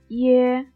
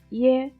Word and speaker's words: 耶: When 耶 is pronounced, we have to pronounce I in a not resounding but short way first. Then pronounce A in a resounding way with the tone slide from high to low.